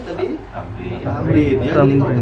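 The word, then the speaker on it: تمرين: Tamrin. Tamrin ya. Jadi kalau Tamrin. ketemu yang begini, ini bacanya tamrin. Jadi jangan tamarin atau tamarin jadi apa aja kayak asal.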